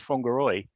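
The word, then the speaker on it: Whangārei: It took a long time for him to tell me that actually it was Whangaroi was the pronunciation of this word that began with WHAN.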